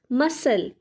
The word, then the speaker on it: muscle: So the letter C in the word muscle is silent. The word is pronounced as muscle.